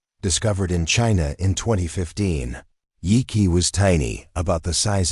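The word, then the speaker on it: Yi Qi: Yi-Qi, pronounced Yi-Qi, meaning strange wing in Mandarin, wasn't just another feathered dinosaur from the Jurassic.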